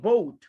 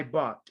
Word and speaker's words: bought: some words for example the pass of by is not vote is but i bought okay okay pass of